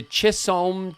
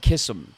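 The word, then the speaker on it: Chisholm: I'm I I don't I wouldn't pronounce it like that. I would call it kissum. The kissum trail. I would imagine that that would be the right way, but but you know, what do I know?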